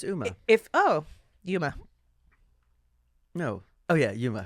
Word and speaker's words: Uma: I know his name is Yuma, but it's spelled UMA.